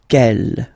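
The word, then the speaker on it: quel: The way to pronounce them masculine form here will be pronounced exactly as the feminine form here ke.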